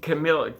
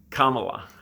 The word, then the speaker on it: Kamala: this mean this mean camilla camel kamala i said it right that time this mean kamala is